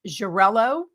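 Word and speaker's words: Xarel·lo: Jarello, which is spelled X A L O.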